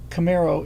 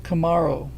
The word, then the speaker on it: Camaro: Oh, and you're saying it wrong. Not Camaro. It's Camaro. It's like Kamala, not a Camaro.